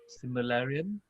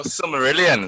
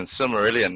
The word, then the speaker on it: Silmarillion: And number 5 and number 1, we're going to go with let's see, how do you pronounce that? Similarian.